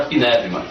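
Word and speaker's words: πνεύμα: toda vez que aparecia a palavra Peva que é a pronúncia do grego hoje para espírito Nós colocarmos como sendo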